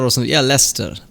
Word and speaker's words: Leicester: is it it is less than it's not less sister or something yeah lester lester yeah after the final syllable is silent norwich beric southern norwich it's